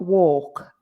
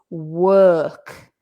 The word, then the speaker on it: work: So although it's an O, it's not walk, right? It's work. That's that vowel in English, which doesn't really exist in Spanish.